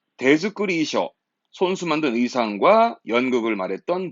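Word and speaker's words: 手作り: 참가자는 대즈꾸리죠. 대즈꾸리. 손수 만든 의상, 발음 잊지 말고요.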